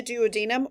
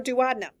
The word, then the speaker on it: duodenum: Okay, so now here's where the fun happens, starting in the duodenum or duodenum. It's pronounced both ways.